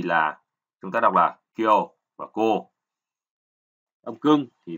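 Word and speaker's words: 去: Ông Yomi của chữ khứ thì là chúng ta đọc là kyo và cô.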